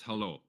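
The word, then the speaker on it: hallå: think that's Halo that's hello so you pronounced when yeah when the a has a circle above it you pronounce it like an O basically okay so hello yeah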